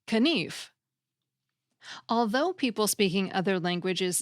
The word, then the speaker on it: knif: Old English for example the K in knife which was spelled k n f was pronounced so the word sounded like kenif although people speaking other